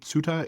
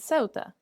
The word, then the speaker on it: Ceuta: I know we say Ceuta in in English, but you are I think our resident Spanish speaker, so how would you actually pronounce that in Spanish? Is it the same or a bit different? Uh yeah, it's a little bit different.